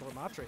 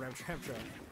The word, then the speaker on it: Ramattra: They're going to be trying to look, hopefully, like, pick up Ramattra here. Or Ramtrampter. Oh no, I've revealed that I learned how to pronounce it correctly in the week in between.